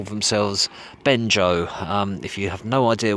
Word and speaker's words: Bengeo: Bengeo is spelled B-E-N-G-E-O, but the E at the end is not pronounced, so they call themselves Bengeo.